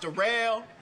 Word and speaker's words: Daryl: Yeah, my name Darrell. It's spelled like Daryl, but it's pronounced Darrell.